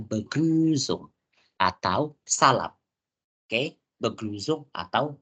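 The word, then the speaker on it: Begrüßung: pertama iya Yang pertama pasti kita beguzung ya bacanya beguzung atau salam oke beguzung atau salam so teman-teman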